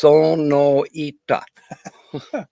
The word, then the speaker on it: Sonoita: You know, it's Sonoita. Yeah. Okay. Okie pronounces it like that too. I just say Sonoida.